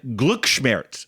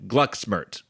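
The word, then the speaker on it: Glücksschmerz: for german not precise german sounds so something like glucksmertz rather than gluxmert love to you all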